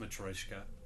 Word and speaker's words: Matryoshka: And it's pronounced Matryoshka.